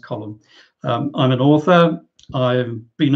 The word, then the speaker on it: Colm: i'm colin holland um that's an irish name pronounced column i'm an author i've